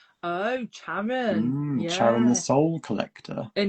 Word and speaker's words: Charon: Sarin say Sharon says it's pronounced with a hard ch Oh, so it's Sharon. Oh, Charon.